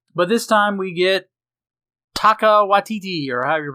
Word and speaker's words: Taika Waititi: But this time we get Taika Waititi, or however you pronounce his name. You're right. I think it's Taika Waititi. Taika Waititi.